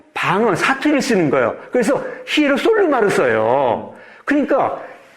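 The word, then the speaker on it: Ἱεροσόλυμα: 그래서 히에루살렘을 발음하는데 북쪽은 방언, 사투리를 쓰는 거예요. 그래서 히에루솔루마를 써요.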